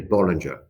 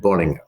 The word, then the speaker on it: Bollinger: In the UK, you say Bollinger. You can also say Bolli as well. And in Germany, because as you know, Bollinger is German origin, you said Bollinger. That's how you pronounce.